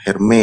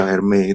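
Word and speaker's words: Hermès: tadi sudah tahu ya ternyata herme ya bacaan yang lebih apa pronunciationnya yang lebih tepat Ya karena dari Prancis ke herme itu engak dibaca ya E dan juga tadi bukan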